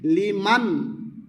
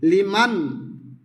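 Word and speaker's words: لمن: সামি আল্লাহু লিমান লিমান লিমান নুন সাকিনে গুন্না হবে না মনে রাখবে লিমান হা বড় হা মি মিম দা দাল হু হা উল্টা পেশ হু কিন্তু দম ছাড়িলে বলতে হবে হামিদাহ হামিদাহ সামি আল্লাহু লিমান হামিদাহ নুন সাকিনে লিমান নুন সাকিনটি লড়বে না মনে রাখবে অনেকে বলে ফেলে লিমানা লিমানা হামিদা নুন সাকিন লড়ে গেলে সাকিন উচ্চারণ হয় না বরঞ্চ জবর হয়ে যায় সামি আল্লাহু লিমান হামিদাহ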